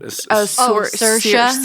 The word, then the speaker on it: Saoirse: Saoirse. Saoirse, thank you.